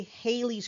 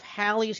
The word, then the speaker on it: Halley: so the question is why do we say hayley's comet instead of halley's comet or hawley's comment because if you look at it you know you know how english works those are two l's right there together between the a and the e that's not it's not a hard a that's not that's not a long a it's not there's not a sound that's that's going to be an ah or or all so holly or halle